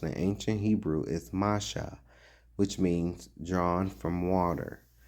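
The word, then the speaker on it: משה: The name Moses, pronounced in ancient Hebrew, is Masha, which means drawn from water.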